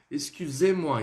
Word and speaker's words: excusez-moi: Esse sufixo ez vai fazer referência com o pronome vous. Ok? Excusez-moi. Então você vai falar ele um pouquinho mais longo.